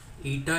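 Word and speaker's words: eta: ईटा इसको प्रोनाउंस करते हैं ये वाले टर्म को, और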